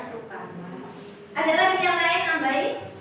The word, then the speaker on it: Soekarno: Teks itu dibacakan oleh Soekarno, bacanya ya, tulisannya Soekarno tapi bacanya Soekarno.